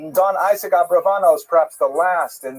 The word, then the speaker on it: Abravanel: Oh, I should mention, by the way, many people pronounce the same Abarbanel, and that's because of the, it's much easier, as Stephen says, it's much easier to rhyme the song to the name Abarbanel, if you know what I'm talking about, right, with Schlock Rock version of Abarbanel, but it's most likely pronounced Abravanel or Abrabanel. So we'll stick with the scholarly norm, although you know who I am talking about.